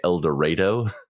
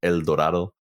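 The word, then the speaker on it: Eldorado: on my ears, but they kept calling it El Dorado, Texas. Yeah. And I'm just like, it's a Spanish word. It should be El Dorado.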